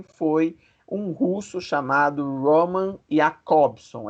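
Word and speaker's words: Jakobson: um russo chamado roman ea cobson é esse aí que o nome escreve com j nesse j no entanto é pronunciado como se fosse um ih e a cor som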